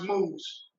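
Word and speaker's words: Moovz: brothers are co-founders of move as pronounced moves i'm sorry i mispronounced that moves a company that makes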